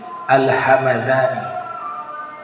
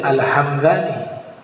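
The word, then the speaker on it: الهمذاني: karangan dari Syekh Hariri alhamadani kalau saya sebut alhamadani cara bacanya enggak boleh alhamzani yang sahih bacanya alhamad nisbat kepada nama tempat di wilayah Persia atau sekitar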